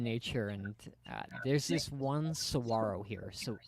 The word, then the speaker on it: Saguaro: and there's this one Saguaro here so the saguaros or that that native tucsonians pronounce them Sahuaro and Sahuaro and it